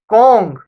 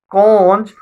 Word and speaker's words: conch: And the Kong, and sometimes it is pronounced conch, the Kong that is there is a symbol of authority, is a symbol of power.